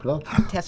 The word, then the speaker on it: Testerman: Testerman. David, I pronounced it right.